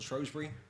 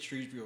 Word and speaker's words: Shrewsbury: Is it Shrewsbury or Shrewsbury? Well, I say Shrewsbury, even though I shouldn't. It's spelled Shrewsbury. Yeah. It's said that people who are not from there originally call it Shrewsbury.